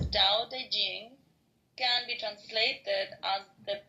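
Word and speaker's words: Tao Te Ching: is his best reward da Ching pronounced more or less da Jing can be translated as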